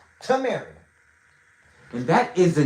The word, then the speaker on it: Tameri: If you can use your two eyes, it says Tamary. It is spelled T A M E R I. Tamary.